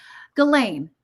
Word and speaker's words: Ghislaine: Okay, Ghislaine. Yeah, it's just like Elaine with a G in front of it. Okay, Ghislaine.